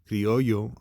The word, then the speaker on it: criollos: all right so his parents were criollos pronounced ryoyo are latin americans who